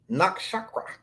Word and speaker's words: nakshatra: This is how we pronounce the name. Maga. Maga. Maga. Nigga. Maga. Maga. I said nakshatra.